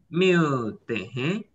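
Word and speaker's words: मिलते हैं: Ini dibaca Miltehe. Miltehe itu sampai ketemu lagi artinya ya. Miltehe ya sampai ketemu lagi gitu ya.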